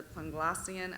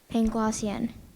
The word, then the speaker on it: Panglossian: Voltaire mocked the philosophy of Leibniz as a Panglossian absurdity. Are there any alternate pronunciations? No. Panglossian. P-A-N-G-L-O-S-S-I-A-N. Panglossian.